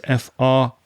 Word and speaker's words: friend: friend the spelling is f-r-i-e-n-d but those two vowels i e have the pronunciation e so it's friend my friend craig friend